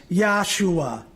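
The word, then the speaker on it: ישוע: that famous Jewish surgeon his name in the Hebrew language is pronounced yahshua translated into English is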